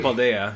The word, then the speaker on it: Paldea: so I'm gonna wait baldea because that's how you pronounce it in Spanish anyways okay okay and so